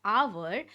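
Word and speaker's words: hour: सो my students, यहाँ पे letter H जो कि एक कॉन्सोनेंट लेटर है, ये साइलेंट है, और हम जब प्रोनाउंस कर रहे हैं आवर, तब हम ओ के साउंड से शुरू कर रहे हैं।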